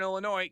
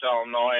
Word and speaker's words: Illinois: I used to live up in Morris, Illinois, and they used to pronounce Joliet, Joliet. Yeah. Yeah. It's and that's somebody on Twitter actually said there's no noise in Illinois and there's no jolly in Joliet.